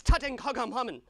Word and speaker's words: Tutankhamun: It's Tutankhamun.